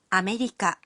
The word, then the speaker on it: アメリカ: America is pronounced as アメリカ.